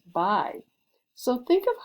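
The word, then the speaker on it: 白: here, it is the color white and it's pronounced bai.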